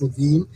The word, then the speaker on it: Levin: The bass player Tony Levin. I've always pronounced it Levin. Now I think it's actually pronounced Levine, and I've actually said it Levin to him, but he's never corrected me.